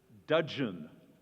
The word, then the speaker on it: dudgeon: All right, young man, your word is dudgeon. Dudgeon. Do not confuse it with dungeon. This is dudgeon.